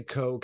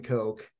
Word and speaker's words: Koch: heard anyone pronounce it I don't think I would say Coke I know I know one person with this last name and they pronounce it co k-o-c-h yeah I think I